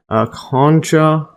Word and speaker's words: concha: which gave their name and this is Latin concha concha or concha from Greek uh